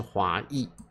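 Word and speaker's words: 华裔: 念华裔，有人会念华裔，其实都听得懂，没有问题正确的发音是华裔好，美丽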